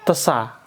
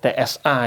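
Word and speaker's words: ث: Bacanya itu makhrajnya pakai lidah. Lidah kita dilihat ini lidah kita ya. Terus ini gigi atas ditempelkan di ujung gigi atas. Hampir keluar lidahnya. Terus keluarkan udah tsa.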